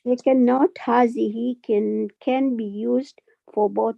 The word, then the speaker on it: هذه: It is, I'm reading, it is pronounced as hazihi, but Correct. the mud elongated. Alif on ha is not written, but is pronounced. Excellent. Note, the ending of hazihi is fixed on kasra, mabani ala kasra.